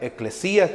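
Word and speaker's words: ἐκκλησία: palabra iglesia viene de la palabra griega que significa que se pronuncia eclesia que significa asemblea o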